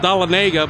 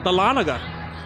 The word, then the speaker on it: Dahlonega: for a long time I thought this was pronounced doll naga but my aunt who lives here told me is correctly pronounced Dahlonega northeast city just a